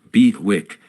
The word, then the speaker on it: BWIC: portfolio's end liquidated them bwic pronounced B Wick came into common use an acronym for bid wanted in competition investors were informed of